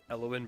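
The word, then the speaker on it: Elown: what um give me a sec it is pronounced sorry I need to know for Nick's notes eloin bright leaf bright leaf um it's e l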